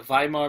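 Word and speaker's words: Weimar: Germany is called the Vimal Republic okay the Vimal republic w's pronounces a V German okay so we have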